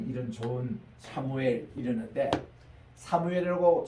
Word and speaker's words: 사무엘: 그래서 참 이런 좋은 사무엘 이러는데 사무엘이라고 정확하게 발음하는 것은 세계에서 우리 한국 사람하고 스페니시가 사무엘로 그대로 그 발음 그대로 합니다. 근데 미국에 가면은 이거를 세뮤얼이라고 이렇게 번역해요.